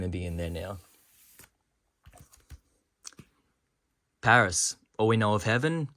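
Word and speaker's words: PVRIS: Paris a lot lately it's actually spelled PV RIS as well which uh you know it's weird when you see the name it's like how do I pronounce this it's just Paris it's Paris that's the band Ling gun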